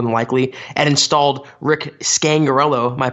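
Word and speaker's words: Scangarello: Vic Fangio more than likely and installed Rick scangarelo my pronouncing that correctly Chad you got it we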